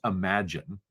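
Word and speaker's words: Imagen: vision model Google calls imagine it's spelled image gen image gen but it's pronounced Imagine by Google um so the Imagine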